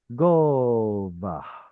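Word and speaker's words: גֹּבַהּ: hmm It's a segolate with an o vowel. Gova. Does this have a furtive patach? No. Doesn't need it. No, Doesn't need it no, because the because the preceding vowel previous. is already an ah vowel.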